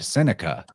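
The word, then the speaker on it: Setanta: Well, Cuchulainn or Cuchulainn, he was born as Sintata or Sententa, but I've heard an actual Irish speaker pronounce that word Seneca, which I find very interesting.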